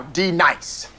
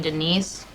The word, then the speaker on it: Denise: Now, D nice. Do you mean Denise? Oh no. You say your name right now. Denise? Say it right. Denise. Correctly. Denise. Right. Denise. Right. D nice. That's better. Now, Ron.